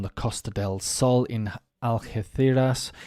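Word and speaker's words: Algeciras: Costa Del Sol in algeethiras if I got that uh pronounced correctly but in English of course of course we'll say algaciras or something a man injured four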